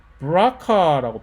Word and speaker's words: BRCA: 브라카라고, BRCA 촌스럽게 부르지 말고 브라카라고 발음해 주세요.